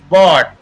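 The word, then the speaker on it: bought: इसी प्रकार बॉट, बॉट यहाँ पर भी जी एच साइलेंट रहता है, यानी ओ यू या ए यू के बाद अगर जी एच हो तो वो साइलेंट रहता है, तो इसको हम सीधा पढ़ेंगे बॉट बॉट।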